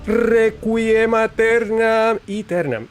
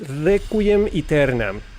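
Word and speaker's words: Requiem Aeternam: Requum Eternum. It's Recquum Eternum. Been saying it wrong.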